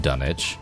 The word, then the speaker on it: Dunwich: master, or in this case the mayor of Dunwich, which by the way is the correct way to say it.